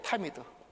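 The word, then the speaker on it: תמיד: 타미드. 타미드라고 읽어요.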